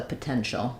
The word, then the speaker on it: potential: combination which makes the sh sound um so like in nation or POS um position um T doesn't always say t when it's together with I at the end it can say the Sha sound so potential potential he